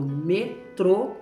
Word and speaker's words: metrô: andar num transporte chamado metrô, é bem diferente. Então, a pronúncia muda totalmente, ok? Sem o acento, metro, metro. Não tem sílaba forte. Com acento, metrô. Meio de transporte, metrô.